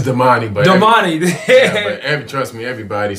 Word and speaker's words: Damani: How you pronounce it? It's Damani, but Damani.